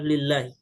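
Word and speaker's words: لله: jalalah lafzul jalalah ya kalau seandainya lafzul jalalah tersebut tidak ada alif maka cara bacanya adalah lillahi namun kalau ada alif di sini tib sebelum lazul jalalah Allah maka dia dibaca dengan Allah jelas sampai sini ya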